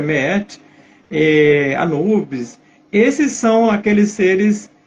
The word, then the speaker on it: Maat: Então, esses deuses do passado, Osíris, Horus, Meet, né, no caso se escreve Maat, mas se pronuncia Meet, Anubis, esses são aqueles